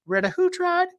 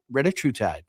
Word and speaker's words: retatrutide: Retatratide is Eli Lilly's pronunciation of this molecule. Retatratide is the, by and large, much preferred pronunciation. And if you have been hearing it on the pen for the last three years as we've talked about this molecule, it's retahootride, retatratide. But retatratide is really, really exciting.